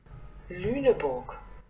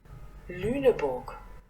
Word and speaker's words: Lüneburg: 그 르네버그를 본토 발음으로 한번 들어보겠습니다. Lüneburg. Lüneburg.